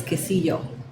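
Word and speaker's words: quesillo: Waka cheese which is the correct way to say it is quillo that's how you say it in Waka yeah everybody knows it by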